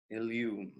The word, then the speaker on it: illumined: Word illumined, that is 2 syllables. Well, the liquid U is not adding a syllable.